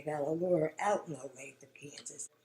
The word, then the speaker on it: Olathe: Holtz had his lawyers personally look into it, and they got a lawyer out in Olathe, Kansas. It's spelled Olathe, but it's pronounced Olathe.